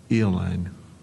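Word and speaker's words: aeoline: Eline. Are there any alternate pronunciations?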